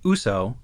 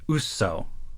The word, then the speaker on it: Uso: Quick note that while they do pronounce it with slightly different emphasis, in Japanese, Uso means lie. Yeah. As in to tell a falsehood. In the Japanese, it's, instead of Uso, a lie, it's Uso.